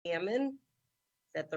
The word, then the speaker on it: Cammann: Cammann. Is that the right way I pronounce it? Cammann.